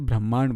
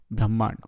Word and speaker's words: ब्रह्मांड: इसकी स्पेलिंग है ब्राह्मण से रिलेटेड, लेकिन इसे ब्रह्मांड बोलते हैं, ब्रह्मांड।